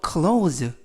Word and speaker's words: clothes: 예문을 보시면 I'm picky about clothes. 이 문장에서 clothes라는 단어는 옷이라는 단어입니다. 이때 발음에 유의하실 것은 clothes, T-H-E-S 발음이 모두 z 발음이 나서 clothes라고 발음하시면 좋겠습니다.